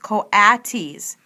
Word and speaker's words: coatis: Brisbane said, reading from the letter, pronounced coatis.